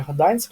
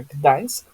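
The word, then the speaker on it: Gdańsk: писать н и да это у нас Гданьск, не Гданьск опять же, да, именно Гданьск, ээ, портовый город, крупный в Польше.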